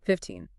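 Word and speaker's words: fifteen: So for all the numbers ending in teen, 13, 14, 15, and so on, the rule is pretty consistent. You stress the second syllable. The end part, the teen.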